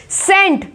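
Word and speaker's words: scent: अब सेंट, यहाँ पे क्या है? सी साइलेंट, यहाँ पे आपको दिख रहा है, दिख रहा है साइंस, सेंट।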